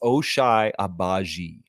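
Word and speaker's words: Ochai Agbaji: Raptors uh it's Alish H please yes it's osai abaji yeah give them that pronunciation guide Justine Jones because those Jokers are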